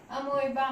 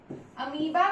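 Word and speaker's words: amoeba: हो रहा है फिजन, ये हो रहा है अमोइबा में, अमीबा भी बोलते हैं, तो जैसा आप चाहे प्रोनाउंसिएशन कर सकते हैं उसकी।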